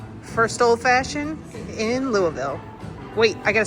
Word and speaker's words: Louisville: This year it's in Louisville and me, Kevin, Patrick, and Patty all went.